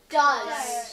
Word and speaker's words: does: one do you know what this word is does does well done Mason does d o e